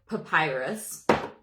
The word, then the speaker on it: papyrus: Someone helped me learn how to pronounce this. Who was it? Someone on my live. Papyrus is in fact Papyrus.